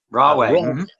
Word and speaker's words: Rahway: I know he gently picked up my pronunciation of the Mafia, but many years ago, Rahway prison. Rahway.